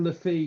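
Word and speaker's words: Le Fée: fellow we've got Enzo Lefi yesterday and then I listened to the commentary yesterday and they're pronouncing it lef so I'm I'm getting it wrong as well we all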